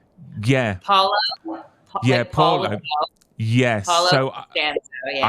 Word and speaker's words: Paolo: Yeah, Paulo.